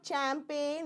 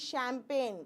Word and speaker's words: champagne: It is not champagne, it is champagne. CH becomes S.